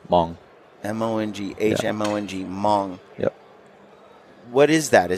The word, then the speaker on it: Hmong: is the language is Hmong h-m-o-n-g by the H is silent so it says m-o-n-g Hmong m-o-n-g-h-m-o-n-g Hmong yep what